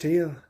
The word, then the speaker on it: Thiel: Now he says it's pronounced Thiel, sir, and I say, then what the hell do you have the H for?